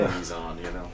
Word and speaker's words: Meson: By the way, kudos for pronouncing Meson correctly. You like that? I say Messon, and I'm totally wrong, and I know I'm wrong, but it's still how it says in my head.